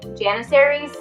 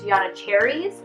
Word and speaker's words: Janissaries: So I was saying Janissaries. And apparently the way you pronounce that word is Yanacharies.